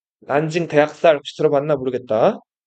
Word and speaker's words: 난징: 그리고 여기 상하의 바로 위에 남쪽의 수도 남경이 있는데 남경을 자 중국어로 읽으면 난징이라고 읽어요. 난징 대학살 혹시 들어봤나 모르겠다.